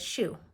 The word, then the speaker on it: Shu: example i tell people my name is shu like what you wear on your feet and i'll usually get